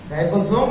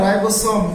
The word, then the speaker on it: রাইবোজোম: রাইবোজোম না রাইবোসোম, কোনটা? দুটোই সঠিক। হ্যাঁ, ইংরেজিতে আমাদের এসওএমই, আমরা বাংলাতে কখনো রাইবোসোম কখনো বা রাইবোজোম এরকম উচ্চারণ করে থাকি, তবে দুটোই সঠিক, অসুবিধা নেই।